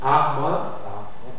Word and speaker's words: arbre: Aussi, on va lire la consonne E muette, on va la lire en position finale si elle est précédée de deux consonnes prononcées. C'est comme pour la transcription, tu dois mettre le E muet si elle est précédée de deux consonnes prononcées. Par exemple, noble, arbre, porte.